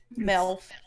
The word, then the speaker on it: Melf: It's kind of spelled like MILF. I'm not even kidding. It's Melf.